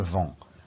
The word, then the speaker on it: vends: So if you want to say I sell, je, you say add on an S. And you don't really pronounce it, so it's just je vends, I sell.